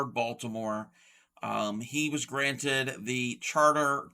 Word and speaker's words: Baltimore: Okay, you're commenting on how I pronounce the word Baltimore. It's Baltimore, not Baltimort.